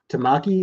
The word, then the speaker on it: Tamaki: continue with that that's uh oh yeah uh tamaki is how you say that tamaki is a